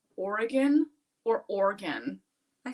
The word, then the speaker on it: Oregon: e in there yeah it's three syllables Oregon not Oregon I think you'd have